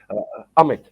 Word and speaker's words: Amit: yeah, So Emmett, just know. I think I pronounced that wrong. How do you, Gashwin? Is it yeah. Amit? Amit? Amit, yeah, is that Amit.